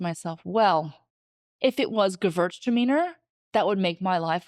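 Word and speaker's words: Gewürztraminer: Pronunciation, Gewurztraminer.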